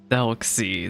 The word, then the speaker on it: Thelxie: Thelxie, that's how you pronounce it. See, I had no idea. I was calling it like the Thelxie or whatever.